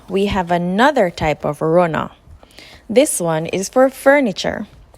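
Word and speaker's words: runna: people and places in Jamaican pwa this is pronounced Rona Runa the common spelling is is rner r u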